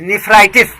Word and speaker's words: nephritis: नेफ्राइटिस, correct sound is नेफ्राइटिस, NEPHRITIS। तो kidney में जो कमी होने लगे, डैमेज होने लगे, तो हम कहते हैं कि वह व्यक्ति है, तो अमुक व्यक्ति जो नेफ्राइटिस का शिकार होने जा